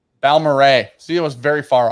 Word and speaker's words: Balmoral: It's Balmoral.